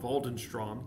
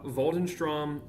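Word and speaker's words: Waldenström: I would assume that's called Valdenstrom because it's not English. It's German with a little umlot or maybe it might be Swedish.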